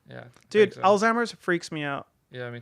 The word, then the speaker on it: Alzheimer's: Yeah, like you just as you have Alzheimer's. Al- I called it Old timers.